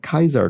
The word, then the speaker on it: Caesar: funny a funny cross caesar dressing could also pronounce that kaiser dressing which is how closer